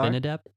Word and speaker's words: Abinadab: Abinadab. Yeah, they work. You put the emphasis on the last syllable with the Hebrew.